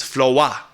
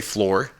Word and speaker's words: floor: Floa is how, let's just be real. That's how an African-American R&B singer says it. She doesn't say floor. Because floor, if you're rhyming with yo, she walked out the door and I was landed on the floor because in a country